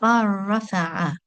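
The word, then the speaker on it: bal rafa'ahu: So we make a complete assimilation and the letter lam is not pronounced. And one will go straight from the letter ba in our example here to the fatha on the letter ra. So ba rafa'a.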